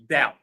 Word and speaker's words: doubt: Stuttle lamb that doubt three words silent B the B is not pronounced subtle lamb that doubt